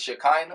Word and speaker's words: Shekhinah: your music I'm thinking am I saying it right is it shakina is it shakina but it's shakina shakina shakina is the name yes you have been